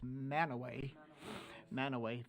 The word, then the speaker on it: Mantua: When you get to Cache County, it's not Mantua, it's Manaway.